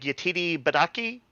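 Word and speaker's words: Yetide Badaki: Billy Martin here uh I think the name is pronounced like yatiri badaki the defense attorney badaki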